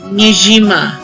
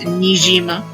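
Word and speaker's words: Niijima: forth over the sea before we reached mijima and if that's not what it's supposed to be pronounced how it's supposed to be pronounced well then you know life's a it's nijima so i'm going to say it things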